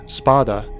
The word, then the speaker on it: spada: Dante's father, Sparta, touted as a legendary sword fighter, is taken from spada, which means sword in Italian. It's hard for Americans to pronounce, so I put an R in to make it Sparta.